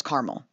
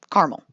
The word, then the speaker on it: caramel: from their british ancestors next up is caramel yep two syllables short and sweet caramel the spelling suggests that there might be another syllable in the middle but miriam webster suggests otherwise this time us midwesterners